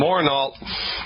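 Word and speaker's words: Morneault: The last name is spelled M-O-R-N, like Nancy, E-A-U-L-T. Daniel and Masoon Morneau, you are the lucky winners.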